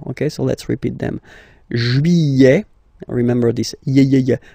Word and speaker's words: juillet: Juillet. Juillet. Don't pronounce this final T, E-T here at the end. E. Juillet. Juillet.